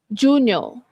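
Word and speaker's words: giugno: Tapi sebutan dia senang a. Junior. Junior as if kalau ada I kat sini junior. Okey. Dia bukan jugo. Bukan jun ya junior.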